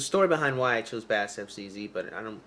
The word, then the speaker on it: BASSFZz: There's a story behind why I chose BASSFZz, but I'm not gonna go into it today.